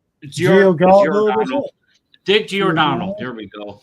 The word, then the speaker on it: Giordano: I cannot pronounce the man's name. Giordano.